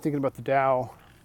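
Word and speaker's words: Tao: not thinking about the Dow t AO was how it's spelled it's spelled like tau but it's actually pronounced Dow it's uh it's really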